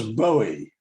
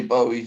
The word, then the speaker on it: Bowie: don't know i think people tend to pronounce it um both ways to be honest well let's have a straw paul maca what what would you say oh it's definitely bowie for me very like